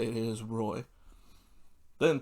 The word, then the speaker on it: Roy: I did find out that is how you say it is, Roy.